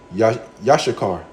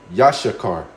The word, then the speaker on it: Issachar: Well, in the Hebrew, all right, Paleo Hebrew tongue, yashakar.